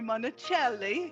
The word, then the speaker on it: Monachelli: it's Monticelli he just told me I should pronounce it the Italian way I am delighted to have Monticelli here with us today